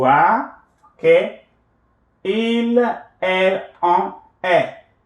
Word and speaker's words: est: Tu will change, the verb être will change to est. Tu es, you are. Okay. Il, elle, on est. Avec un T, with a T here, qui n'est pas prononcé, which is not pronounced.